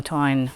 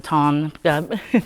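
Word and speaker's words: Táin: but just this notion from the Tyne or the Ton, dependent on your pronunciation, something from Carson's translation of the Cattle Raid of Cooley.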